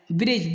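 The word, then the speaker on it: bridge: कब साइलेंट रहता है जी के पहले आया हुआ डी प्राय साइलेंट होता है ब्रिज ब्रिज माने होता है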